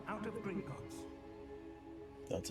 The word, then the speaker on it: Gringotts: disapparating if things go poorly not out of Gringotts that's how it's pronounced I see something up ahead what is